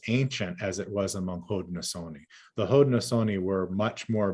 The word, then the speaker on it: Haudenosaunee: But the question is, or excuse me, I'm going to spell it. The question is, you mentioned and this word is Hauden'na, Osaunee. Haudenosaunee.